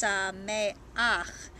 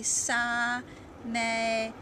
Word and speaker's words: Sameach: So if you didn't know that this is you already know it's pronounced Sameach, but if you didn't know it, you'd look at that end and you'd think from what we know in class it would be Samecha, right?